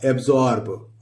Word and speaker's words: absorb: इसी तरह यह है ABSORB, इसको पढ़ेंगे, अब पढ़ लेंगे अब, और SORB जॉर्ब, यहां इसका प्रोनाउंसिएशन जो निकलेगा दोस्तों, तो ये जार और ये ब, एब्जॉर्ब।